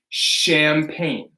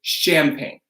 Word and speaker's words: champagne: So this is going to be champagne. Okay, so it's not ch, no ch. It's a French word, so we say champagne.